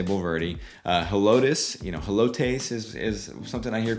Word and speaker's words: Helotes: Helotes, Helotes is something I hear quite a bit.